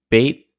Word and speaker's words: B8: why we see uh bait that's how you pronounce B8 right but they're bait bait